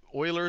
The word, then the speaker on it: Euler: here is if we take if we assume Oiler formula what happens when X is equal to